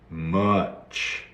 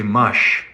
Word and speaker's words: much: uh are the sorry the sound is uh uh uh much okay or sometimes people say mush mush mush but it's much like chocolate he loved his buttons